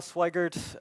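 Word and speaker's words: Sweigart: my name is al Swaggart's my last name rhymes with white dirt I'm principally known in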